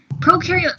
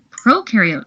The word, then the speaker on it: prokaryote: Prokaryote symbiosis means these organisms live together. So just to recap from our Intro to Cells video, when you think of prokaryote, think pro rhyming with no nucleus, no membrane-bound organelles.